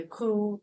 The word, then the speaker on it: coup: So you don't pronounce the P a coup, like political coup.